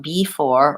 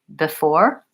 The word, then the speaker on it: before: important thing is that in both of these words the B II is not stressed and so it's not going to be the same as B it's not before or because but I want it to be an unstressed short reduced vowel so in most cases